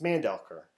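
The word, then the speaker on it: Mandelker: Mandel car manda lekker its Mandel ker we pronouncing it wrong anyway so you know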